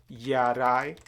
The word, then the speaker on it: Jarai: And the Vietnamese or the Kinh people, they are the dominant group of people in Vietnam. They call us Gia Rai. Sometime they say Người Gia Rai, which means Jarai people.